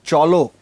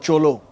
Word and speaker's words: cholo: It's sounding great with the harmony but just pronounce cholo. It's not it's not cholo cholo cholo.